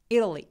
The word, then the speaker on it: Italy: 이태리 발음 Italy 아니면 Italy. T 발음 내셔도 되고 굴려서 Italy 하셔도 좋고요. Italy 다 좋아요. 대신에 이 태라고 에 소리만 안 내주시면 돼요.